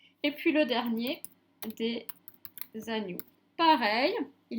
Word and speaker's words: agneau: Et puis le dernier, des agneaux. Pareil, il y a plusieurs agneaux. Agneau, ça finit par par le son O qui s'écrit E-A-U.